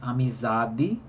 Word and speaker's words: amizade: né ué os exemplos amizade como por exemplo né em que a sílaba tônica que é za não é e a sílaba menos